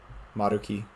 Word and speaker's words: Maruki: Maruki is how you technically pronounce it.